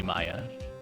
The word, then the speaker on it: Maya: You pronounce her Maya? Definitely Maya.